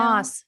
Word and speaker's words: Maas: Is it Maas or Moss? Do you know? Moss. We looked Okay, it up.